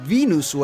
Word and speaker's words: Venusu: Una manera creativa para decir Venusu al inicio de su nombre, que es la pronunciación japonesa para Venus en inglés.